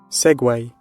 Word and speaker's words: segue: what oh wait it's segue it's segue what a weird way to spell it it's Segway right into the main